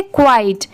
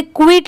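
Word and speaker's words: quiet: क्वाइट। क्यू यू आई ई टी क्वाइट। इसे क्विट नहीं पढ़ेंगे।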